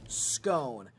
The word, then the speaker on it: scone: How does everyone pronounce scone? I say scone, says Luke. Why? You're saying it wrong. You know that's. No way. It's literally. It tells you how to spell it. It's cone with an S.